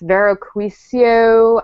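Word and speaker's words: Vero Cuoio: Usually I'm really familiar with women's branded shoes, but I knew right away when I saw the Vero I always pronounce this wrong. It's Vero Quisio, made in Italy.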